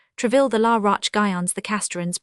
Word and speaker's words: Troisvilles: The intimates who came to play their game of cards of an evening, the Troisvilles pronounced Treville, the La Roche-Guyons, the